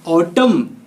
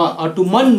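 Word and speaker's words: autumn: हाँ, ऑटम N silent होगा, ऑटोमन नहीं।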